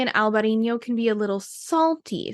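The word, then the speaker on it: Albariño: fan so in Albino it's spelled a lb a a r i n o a little till a over the end so alberino the second option is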